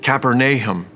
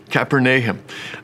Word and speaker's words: Capernaum: He pronounces it Capernaum, Capernaum, which literally means the village of Nahum, the prophet.